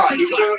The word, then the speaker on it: McIntyre: But they did see something with him and Oh, it's pronounced McIntyre.